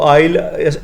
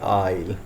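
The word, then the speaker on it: aisle: वो आइल, एस जो है इसमें साइलेंट होता है, तो आइल ये हो जाएगा जी आइल।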